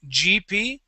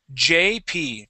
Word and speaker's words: JP: name of JP okay you are saying GP okay that is J JP try that JP good